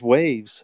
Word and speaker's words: WAV: to say it so in our in gremlin we called them wav files and of course their wave files but enough they've cut the e off so but it's funny